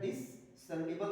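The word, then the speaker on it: discernible: तो आप देखिए यहाँ पर हम सी को एस को अलग नहीं पढ़ते हैं, हम सीधे सीधे प्रोनाउंसिएशन क्या लेते हैं, शा लेते हैं। उसी तरह डिसर्निबल हो जाएगा, डिसर्निबल का मतलब होता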